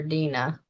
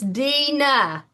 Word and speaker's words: Dena: Oh, it's Dena. Dena, I'm sorry Dena. I have been saying your name wrong.